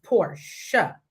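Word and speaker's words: Porsche: It's Portia. Like the name, like the girl Portia.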